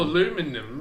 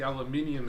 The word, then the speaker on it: aluminium: in a candle though it's not all aluminum or actually aluminium as normal people say it you america you're not saying it right exactly aluminium just sounds more poetic and it's archaic and it's interesting instead of aluminum aluminum aluminum aluminium thank you very much but yeah there's